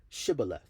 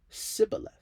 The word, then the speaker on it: shibboleth: they said to him say shibboleth and he said sibileth for he could not pronounce it right Then They seized him